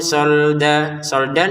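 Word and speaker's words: صَلْدًا: Fatarokahu sholdan dibaca sholda karena berhenti. Kalau dilanjutkan sholdalla maka tanwinnya bertemu lam dimasukin tanpa dengungan.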